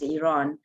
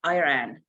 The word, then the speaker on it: Iran: want to ask everybody please pronounce Iran as Iran we are in uh you know in the United States everybody say that say Iran and my my daughter just get offended you know it's not